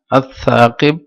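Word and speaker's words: الثاقب: তারপর আস-সাকিব, দেখা এখানে লাম উচ্চারণ হয় নাই, তাহলে এটা শামসি হুরুফ।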